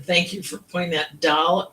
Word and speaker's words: Dahl: Dal is a Scandinavia name. They pronounce it like doll.